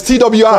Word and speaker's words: Twi: speak what did you call it uh tweed tui is that correct ghanaian people tree tree well it's twi a little bit ghanaian and me see kelewela